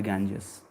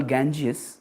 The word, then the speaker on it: Ganga: a shelter of mother gangas in English we call gangas but uh in Sanskrit it is pronounced as ganga ganga Maya yes so there